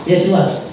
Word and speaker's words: Yeshua: Yeswa. Kung saan bukas sa Exxon? Yeswa. Yeshua. Pero kung ang Hebrew mo pronounce sa anak, Yeshua.